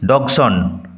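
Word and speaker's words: Dodgson: মৃত্যু Charles লাটুইস ডগস উচ্চারণ লক্ষ্য কর Charles লাটুইস ডগসন D will remain silent second D will remain silent দ্বিতীয় ডি সাইলেন্ট থাকবে চার্লস লাটুইস ডগসন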